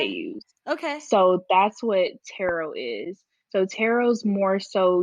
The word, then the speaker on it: tarot: me chart reading and am i saying that right tarot like is it yeah you're saying it correctly so tarot is more